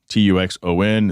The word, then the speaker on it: Tuxon: You may know him as Tuxon Speed, Tuxon. It's spelled purposely like that.